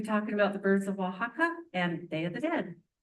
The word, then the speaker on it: Oaxaca: Oaxaca is how you pronounce that.